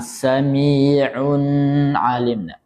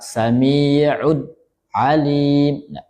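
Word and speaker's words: سميع عليم: Kemudian jangan sampai yang tadi ada diingatkan ee jangan sampai di saktahkan atau ditahan samiun alim atau disaktakan samiud alim naron hamiah.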